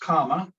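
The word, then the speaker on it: kamma: The Sanskrit word karma, which is pronounced kama in Pali, the language of the Buddha, simply means action.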